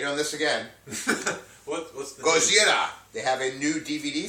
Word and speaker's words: Gojira: Remember a couple weeks ago we were talking about Gojira? Gojira. Yeah. I'm pronouncing it wrong again.